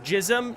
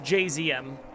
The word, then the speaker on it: JZM: Is my name pronounced Jizom? No, it's it's pronounced JZM.